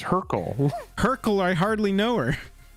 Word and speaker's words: Hurkyl: the card is pronounced Hurker, and it's Hurkyl. Hurkyl, I hardly know her. I think you think it says Hurker. It doesn't.